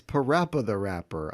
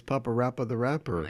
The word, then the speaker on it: PaRappa the Rapper: different languages too so so it's PaRappa the Rapper I guess I never really read it that closely I always thought it was Papa rapper the rapper yeah it's PaRappa the